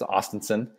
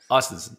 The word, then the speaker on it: Ostenson: It's like Austin, Texas. Ostenson. Ostenson, yeah.